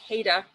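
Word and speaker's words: Haida: coast that the people the pronunciation is haita and um you can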